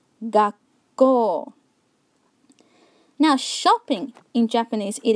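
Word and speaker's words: がっこう: Gakko, with a short pause in between. Gakko, Gakko.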